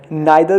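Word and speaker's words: neither: नाइदर के दो pronunciation हो सकते हैं, इसे नाइदर भी कहा जाता है, इसे नीदर भी कहा जाता है। जो आपको पसंद है आप उसका यूज़ कर सकते हैं।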